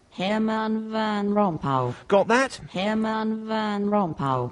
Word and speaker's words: Herman Van Rompuy: For the record, Jeremy, this is how the BBC's pronunciation computer tackles the name. Herman Van Rompuy.